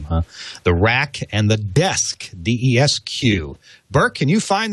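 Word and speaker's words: DESQ: The Rack and the Desk, D-E-S-Q.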